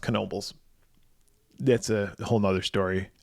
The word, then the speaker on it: Knoebels: it looks like nobles it looks like nobles but it's pronounced knoebels that's a whole nother